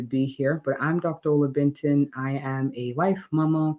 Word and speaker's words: Olabintan: Olabintan. Am I saying it right, Doc? Olabintan, that works. I take it. Olabintan.